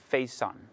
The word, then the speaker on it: Faison: My name is Ricardo Salcido, and joining me today is Ade Faison. Did I pronounce the last name?